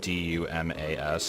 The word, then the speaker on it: Dumas: Because some people have a last name that's like D-U-M-A-S, and I think it's pronounced Dumas, but it looks like dumbass, and I'm always like, diarrhea.